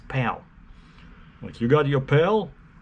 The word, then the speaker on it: PAL: of like you know spelled as a friend p-a-l-pal but they pronounce it as pal but you got your